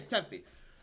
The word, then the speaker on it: Tempe: How do you pronounce it? Tempe. Yep. Okay, Tempe.